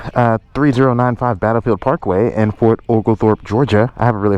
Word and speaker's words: Fort Oglethorpe: i'm going to say it right this time fort ogle thorpe there boom you can see the sign here